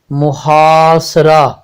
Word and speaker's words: محاصرہ: زیر اور لام پر جزم لگانے سے یہ تلفظ قبائل، قبائل بنتا ہے۔ اب ہمارا اگلا لفظ ہے محاصرہ، محاصرہ، میم پر پیش، ہے پر زبر، الف پر